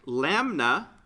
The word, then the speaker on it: lambda: All right, the way that you pronounce that, L-A-M-B-D-A, lambda.